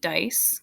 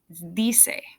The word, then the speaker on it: dice: the verb they say do not pronounce it dice okay d say p SI senor mckinney